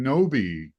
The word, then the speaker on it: Gnowbe: out there she has done this by founding noi and that's spelled g n o wbe we'll get to